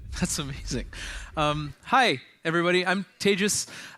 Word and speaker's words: Tejas: I'm Tejas. That's pronounced like contagious disease.